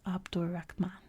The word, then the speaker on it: Abd al-Rahman: In spoken Arabic, names are leaded, so that in this instance the name would be pronounced as if it were spelled Abdur Rahman.